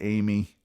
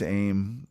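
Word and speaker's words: Aime: On October 31st, yeah, that's Halloween to you and me, Laura Ann Aim, I guess some could pronounce it Amy, but I think it's Aim, also age 17, disappeared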